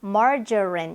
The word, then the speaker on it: margarine: margarine, buffet, caramel, 네, margarine 이렇게 발음이 됩니다.